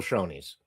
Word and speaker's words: Shoney's: It ain't, you put the word honey up there, you say Shoney's. Because honey, without the S, right? But we know it's Shoney's, where I arrested several